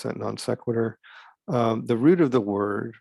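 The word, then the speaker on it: non sequitur: so letter d non-sequitur so that's how you pronounce that non-sequitur the root of the word right from latin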